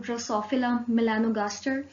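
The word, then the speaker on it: Drosophila melanogaster: एक फिगर दी हुई है बेसिकली फ्रूट फ्लाई की, जिसका साइंटिफिक नेम है ड्रोसोफिला मेलानोगास्टर. Okay, once again pronounce कर रही हूँ, ड्रोसोफिला मेलानोगास्टर, जिसको यूजुअली फ्रूट फ्लाई भी कहा जाता है.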